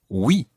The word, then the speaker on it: oui: So, the word for yes is oui.